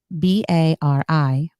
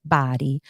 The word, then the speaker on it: Bari: beautiful town right outside the city of body it's spelled b-a-r-i so some people may pronounce it as Bari but it's pronounced body the small town very close to the city